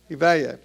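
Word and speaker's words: Iványi: So, in the December issue, they had an article about this guy, Gabor Ivanyi, however you say his name. Who? Ivanyi.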